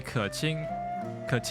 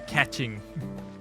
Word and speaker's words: Keqing: Yeah, it should be Keqing, and then they say catching.